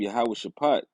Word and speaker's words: Yahweh Shaphat: Let the heathen be awakened and come up to the valley of Yahweh Shaphat, which is how you say Jehoshaphat in the actual Hebrew tongue, Yahweh's judgment.